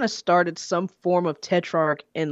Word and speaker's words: Tetrarch: it is it pronounced test chart tetrarch tetrarch so it's kind of like if the CH was a k okay but you said